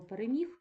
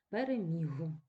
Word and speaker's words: переміг: неважливо нас цікаве слово переміг точно так же людина оглушила а не можна оглушувати в кінці слова дзвінки приголосні вимовляються чітко переміг і хтось сь там